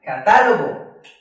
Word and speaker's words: Catálogo: En esta ocasión vemos una tilde. Eso quiere decir que esta es la sílaba que más fuerte suena.